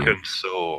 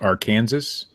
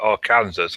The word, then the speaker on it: Arkansas: So do you mean why isn't it pronounced Arkansas? Yeah, why isn't it? Because when I lived in America and I was learning the states, I called it Arkansas, and nobody had a clue what I was talking about.